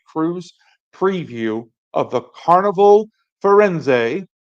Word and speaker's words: Firenze: preview of the carnival forenz which is how I hear it it's pronounced I could be wrong but I'm going to